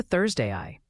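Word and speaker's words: ThursdAI: prompt it we can say Thurs AI is pronounced like THS a i let's see if this works hi there welcome to Thursday I this is your AI evangelist for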